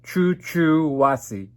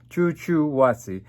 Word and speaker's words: Chuchuhuasi: lots of conditions and it's called choo choo wassey choo choo wassi that's how it's pronounced and it's been looked